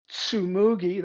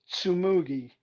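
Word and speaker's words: Tsumugi: because has a very good vase life is sumugi that's spelled t-s-u-m-u-g-i sumugi from alexandra farms in colombia next up another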